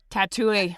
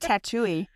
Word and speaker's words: Tatooine: Tatooine. I was like, right? they're a Tatooine. That's how you pronounce it. Excuse me. I'm like, Tatooine.